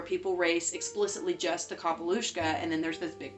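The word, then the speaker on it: capall uisce: of the Sea called the kapalushka the pronunciation that she says it's the correct pronunciation and the thing is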